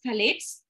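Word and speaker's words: phthalates: p h a t h a but it's pronounced as thalets uh somebody in last webinar only about this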